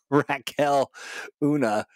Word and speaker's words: Raquel Oona: now how do you I really wanted to get the pronunciation right but it is rakul Raquel Oona AKA spiby um talk